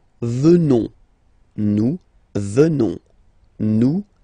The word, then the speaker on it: venons: At the present form, final S not pronounced, so you will get the sound venons, nous venons, nous venons.